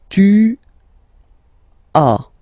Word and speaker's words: tu as: Okay, second one, tu as. Okay, as usual in French, final S is not pronounced.